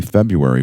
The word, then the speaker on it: February: Uh, but we will be having an initial podcast offering in early February for Letterer on Language, the 10-p part audio curriculum series. And notice that the man does pronounce both Rs in February, so you know it's going to be volatile.